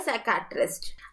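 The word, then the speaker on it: psychiatrist: यहाँ पे P silent है तो ये हो जाएगा साइकियाट्रिस्ट।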